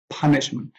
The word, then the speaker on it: punishment: have the noun punishment punishment it's from the word punished to punish and the stress of the of the noun is also in the first syllable punishment so i'll repeat